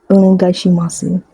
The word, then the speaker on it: Onegaishimasu: Onegaishimasu. And you don't really pronounce the su part unless you're a little kid.